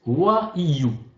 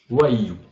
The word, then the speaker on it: WAIU: Donc le code d'activation se prononce WAIU. WAIU.